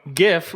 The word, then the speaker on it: GIF: about mother-in-law it's one gif when pronounced correctly should sound like you're saying the word give but your parents tell you they're getting divorced before you can finish the v sound before you finish the